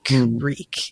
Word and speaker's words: Reek: Reek, Reek. It rhymes with sneak.